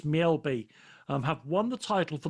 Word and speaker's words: Mjällby: I'm going to find out the correct pronunciation. To me, it's Mjällby.